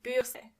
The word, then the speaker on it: Bürste: And remember, you don't pronounce R as R, but more like R. So the word is die Bürste.